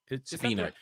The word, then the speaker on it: subpoena: Subpoena.